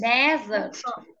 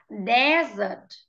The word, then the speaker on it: desert: It's desert. Repeat, desert. Desert. Right. Cái từ này nó gần gần với cái từ bừa trắng miệng ấy, nhưng mà cái từ đi bừa trắng miệng ta thấy một cái chữ S ở